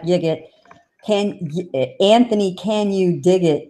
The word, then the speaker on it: Yigit: Well, that's how you remember how to say his last name. Anthony, can you dig it, Yigit?